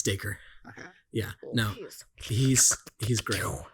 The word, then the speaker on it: Dacre: Yeah, it's Dacre.